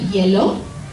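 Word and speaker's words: hielo: Cafe con yellow is with ice and this is pronounced kind of like the word yellow the color in English but with a Spanish accent right yellow kaho has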